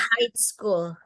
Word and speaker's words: high school: Jadi bacanya cuma H sama I. High school. High school. Ya, jadi Oh G-nya iya. nggak dibaca.